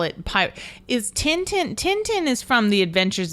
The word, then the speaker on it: Tintin: call it pirate is Tintin Tintin is from The Adventures of Tintin yes Tech technically pronounced tonon but yes and he